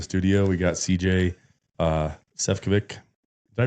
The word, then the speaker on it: Sefcovic: We got CJ uh Sephik. Did I pronounce that right?